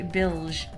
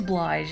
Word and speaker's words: Blige: Bilge. Is that how you say it? I've always, like, I want to read it as Blige. Is it? No, it is Blige.